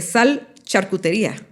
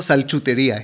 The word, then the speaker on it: Sal Charcutería: has trabajado creaste eh sal charcutería. Cuéntanos. Ya puedo pronunciarlo mejor. Hay que decirlo cinco veces rápido siempre. Sal charcutería, e o como dice todo el mundo, salchutería.